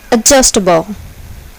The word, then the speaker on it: adjustable: Here, the second syllable is accented. Volcano. Adjustable.